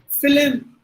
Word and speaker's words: film: Almost this word pronounced exactly as per the spelling. But in the one we extra that's not okay. We are adding an extra sound.